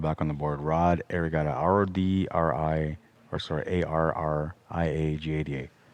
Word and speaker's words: Arriagada: on the board rod arigato r-o-d-r-i or sorry a-r-r-i-a-g-a-d-a it's pronounced like what positions i do